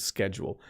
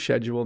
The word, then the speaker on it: schedule: in canada say schedule a very small amount of people say schedule most people say schedule um so i had teachers when i was younger that said schedule but the most common pronunciation is schedule don't use schedule now use schedule um there are other